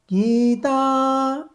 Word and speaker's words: गीता: पूर्व धाड़ी रे देखिथिले वर्तमान एठी गरे दीर्घइकार अछि एवं तरे आकार अछि ए दीटा होची दीर्घ स्वर तेणु एठी दीर्घ उच्चारण करियो पड़िबो गीता गीता श्रीमद् भगवद